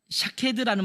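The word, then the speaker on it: שָׁקֵד: 그런 것처럼 사용된 단어가 샤케드라는 말과 더불어는 쇼케드라는 말, 쇼케드. 샤케드, 샤카드, 쇼케드 다 모음은 똑같은데 여기에 점을 어떻게 찍느냐에 따라서 발음이 달라지는 거예요.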